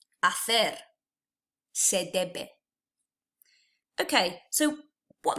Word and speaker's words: hacer: You'll remember that the H is silent in Spanish. You've then also got this CE combination, which is fe. So I would pronounce this word hacer.